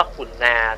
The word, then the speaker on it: กรุณา: แล้ว คำ ว่า กรุณา มัน ต้อง อ่าน ว่า ขุนนา ท่าน พระ คุ เจ้า ความ ขุนนา เพราะ ตัว